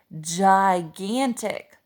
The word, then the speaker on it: gigantic: our first syllable here the eye is softening the G making him make that juts out this would say gigantic gigantic so in the word